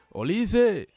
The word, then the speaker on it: Olise: And in France we say Olise. Olise, because that S at the end is say like Z, so it's like Olise.